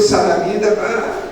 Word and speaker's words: Saraminda: No caso de Saraminda, eu pronuncio Saraminda, porque se eu disser Saramindá, professor, é Saraminda.